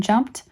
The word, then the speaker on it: jumped: past tenses called and jumped are the first words of their form that are presented they may be mistaken for words of two syllables teach that the e in both words is silent attention should be called